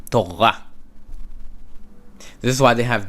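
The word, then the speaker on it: תורה: Torah, Torah. Instead of Torah, Torah. The R is you don't actually hear it, okay? Torah.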